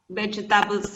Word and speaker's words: vegetables: I don't like vegetables a lot. Vegetables, repíteme, vegetables. Vegetables. La segunda E no se pronuncia.